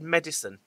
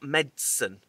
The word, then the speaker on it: medicine: Is it I've always said medicine. You know, medicine. Not medicine.